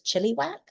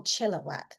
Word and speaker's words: Chilliwack: Hello Deborah from I I'm going to mispronounce this Chiliwack. Is there really a place called Chili? I must be mispronouncing that. Anyway, it's an awesome name. Not mocking it. Um and I am pronouncing it right as well. Huh. Extraordinary Canadians. Who knew? Um so whether you are in Chile or Oh, Chillowwack. There we go.